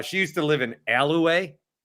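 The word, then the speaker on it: Allouez: Uh, she used to live in Aloay. Aloay outside of Green Bay. I thought it was Aloe. Is it It's pronounced Aloay.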